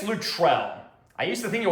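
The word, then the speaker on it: Luttrell: Terry Lutrell, I think it's Lutrell. I used to think it was Lutral. I think it's Lutrell, actually.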